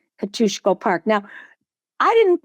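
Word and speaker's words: Kościuszko: As a child, we called it Kostiesko because we would pronounce it phonetically. I had to get to Poland to actually know the name of the park that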